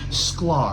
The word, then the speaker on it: Sklar: Sklar. I know how to. Okay, exactly like it's spelled.